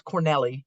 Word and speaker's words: Cornely: But it's Corneli is how it's pronounced.